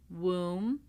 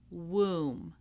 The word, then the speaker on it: womb: This is the silent B. So we do not pronounce the B in any of these words. We have climb, numb, womb, comb, lamb, debt, doubt, subtle.